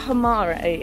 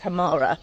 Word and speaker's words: Himarë: that well hamara sorry i feel like i'm saying it wrong by saying hamare i've heard people say it's hamara i'm still not quite sure what it is double checking i think it's hamara is that there's just